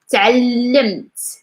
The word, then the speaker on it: تعلمت: Of course, the 2 L's, we just emphasize them. We don't pronounce like 2 L's, like just like 1 L. تعلمت, تعلمت, تعلمت.